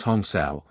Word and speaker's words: Hamsa: Hamsa, pronounced Hongsao, are two sacred Sanskrit chant words possessing a vibratory connection with the incoming and outgoing breath.